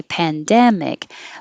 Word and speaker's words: pandemic: could improve um i i underlined dem because that is the stressed syllable within that word so you still say pandemic but we're not going